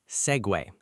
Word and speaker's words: segue: The word is segue. Segue. S E G U E.